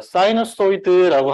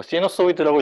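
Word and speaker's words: sinusoid: 그러니까 사이너소이드라고 하는 것과 뭐 시너소이드라고 읽어도 되고 페이저라는 것에 대해서 배울 거예요.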